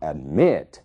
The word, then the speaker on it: admit: Observem o verbo admit. A sílaba tônica é o mit, né? A primeira sílaba a é uma sílaba mais fraca. Então, admit, é ali que está